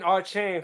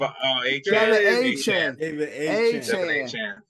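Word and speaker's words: Achane: Devin Archain from the Dolphins. Correct, John. Devin A. Chan. That's pronunciation, but y'all know who I meant.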